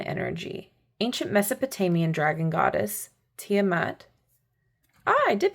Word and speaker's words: Tiamat: Ancient Mesopotamian dragon goddess, Tiamat. Ah, I did pronounce it correctly.